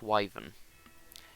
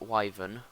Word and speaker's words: Wyvern: Ancient Wavin is just another one of the easy and bland Dark Souls bosses. Yeah, I say it Wyvern, not Withen, because I say it properly.